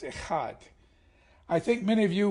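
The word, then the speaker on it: echad: in Hebrew Hebrew is e-c-h-a-d pronounced it's not akad or a Chad it's a heart I think many of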